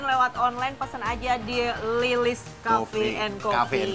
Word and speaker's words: L12ES: Betul, tapi bacanya Lilis, Lilis.